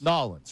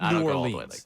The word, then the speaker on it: New Orleans: New Orleans, right? It's not New Orleans.